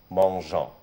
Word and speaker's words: mangeons: بنحط قبل النهاية مع نو اللي هي قبل الأونس بنحط أو ودي لدواعي النطق. عشان تبقى الكلمة كالآتي: nous mangeons. لأن لو مفيش هنا الجي هتتنطق كما لو كانت جيم، هتبقى nous mangeons.